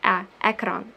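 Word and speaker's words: екран: We pronounce like A, like you do in the word elephant. So ekran.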